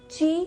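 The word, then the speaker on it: chi: तो जो ची है, ची एनर्जी को चाइनीज़ में ची बोला जाता है, कुछ लोग की भी बोलते हैं, पर इसका जो सही प्रोनाउंसिएशन है वो ची है।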